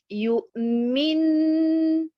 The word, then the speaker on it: يؤمن: Donc, pour cet exemple, nous avons yu'min. Vous voyez la bonne prononciation avec l'accentuation sur harakat al-mim, al-maksoura. Yu'min.